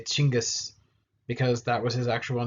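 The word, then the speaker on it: Chinggis: academic world so much anymore normally they'll say chingas because that was his actual name uh genghis khan is like a weird european uh alliteration for it that they tried to put together but anyway chingus is how you would pronounce it normally this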